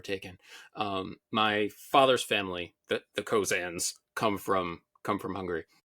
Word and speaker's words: Koczan: and there it is, and it's Koczza with an accent, and it becomes Koczan, which I had no idea.